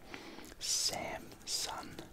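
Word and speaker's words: Samsun: pronunciations cramps on and there is Sam son good like that Japanese electronics company except that there's no G on the end that's a lot of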